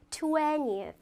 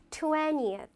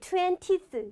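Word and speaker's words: twentieth: 20th, 20th. 이거를 20th 이렇게 발음해서 틀리십니다. 중간에 어를 빼먹는 거예요. 20th. 이게 제대로 된 발음입니다.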